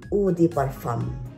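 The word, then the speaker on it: eau de parfum: is e peram u I'm sorry not not U not EU it's udam that's what the the par the Parisian um pronounce this the param o o o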